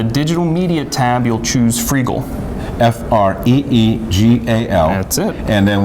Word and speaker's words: Freegal: And one of the things that we've started to do is subscribe to a service called Freegal. Spell that. Freegal. Free and legal together. G-A-L. Freegal.